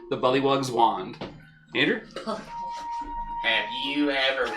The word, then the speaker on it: Bullywug: Bullywugs around the universe are now mad at you for pronouncing that as bellywugs, but I'm sure that won't come back to haunt you later in the game.